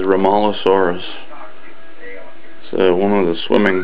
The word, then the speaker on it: Rhomaleosaurus: this I think I'm pronouncing it correctly as ralos saurus so One of the